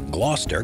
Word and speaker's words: Gloster: Number 15, the Gloster Gladiator. The first thing to mention about the Gloster Gladiator is that while it sounds the same, it's spelled differently to the British city of Gloucester.